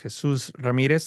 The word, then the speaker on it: Jesús Ramirez: So for those of you that don't know me, my name is Jesús Ramirez. I'll pronounce it with the Spanish accent.